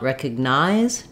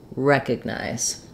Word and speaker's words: recognize: night or in mine um in the final syllable and be careful not to stress on it you don't want recognize don't have length there just keep that clear